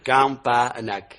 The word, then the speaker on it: Campanac: Campanac, ça s'écrit comme ça se prononce, Campanac.